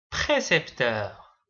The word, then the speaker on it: précepteur: percepteur précepteur. Prenons leur orthographe. Percepteur, ça s'écrit avec P e R.